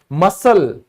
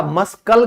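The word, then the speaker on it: muscle: क्या है, फैसिनेट, तो ये भी सी हमारा साइलेंट होगा, इसको कहा जाएगा फैसिनेट। ठीक है, कुछ और एग्जांपल देख लो। मसल होते हैं ना मसल लोगों के, तो अब आपको पता चला मस्कल क्यों नहीं बोलते, क्योंकि एस के बाद सी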